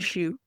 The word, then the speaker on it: Hsu: You can look her up under Alondra Canizal Hsu, and her last name is Hsu, but pronounced like Shu, as she taught me.